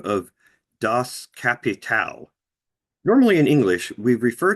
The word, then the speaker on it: Das Kapital: That's not even how it's pronounced. Das Kapital.